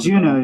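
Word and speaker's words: Djunah: Juno play in there Juno yeah check out Juno it's spelled d-g-u-n-a-h no seriously we're like really into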